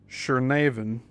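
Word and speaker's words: Chernavin: Shernavan, that's spelled C H E R N A V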